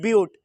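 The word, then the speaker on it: but: देखिए ये बट की स्पेलिंग है लेकिन यहाँ हम लोग क्या बोलते हैं ब्यूट, पेंट, हेक्स, हेप्ट, ऑक्ट,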